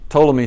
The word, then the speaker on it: Ptolemy: starts with a t ptolemy starts with a p believe it or not now the ptolemaic system